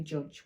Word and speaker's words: judge: So just a J will say judge. We don't want to bother with the G on the end. We wouldn't put the D anyway, of course, because it's a silent letter, but we're just going